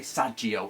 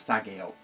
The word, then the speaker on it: sageo: like a lot of people say sagio instead of Sago so uh we're on